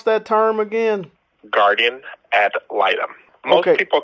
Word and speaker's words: guardian ad litem: And how do you pronounce that term again? Guardian ad litem.